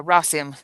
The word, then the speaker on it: Rossum: I can't remember the pronunciation, but um the the the corporation that ran the Dollhouse. Uh Rossum.